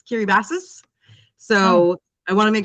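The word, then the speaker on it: Kiribati: we would say K I R I B- A T I looks like Kiri Batty, but it's not.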